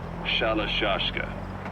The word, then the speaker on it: Shalashka: Someone must have known about that because somewhere along the line, Shashka got stuck on the end of Sherashka. The gorillas were using the name amongst themselves. By the time I got to hearing about it, pronunciation had wound up as Shalashka.